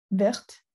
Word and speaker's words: vert: Verte. Et comme il se finit par un T, Oh, vert. on le prononce pas le T, ouais.